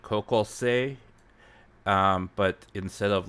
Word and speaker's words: 高校生: So when you write O in Japanese, you pronounce it like a stretched out O.